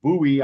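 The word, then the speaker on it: Bue: So, somebody who had a stroke a while back, who goes by the name Buouet, I am reliably uh informed by uh some people I know who are Thai that their name is pronounced buoy.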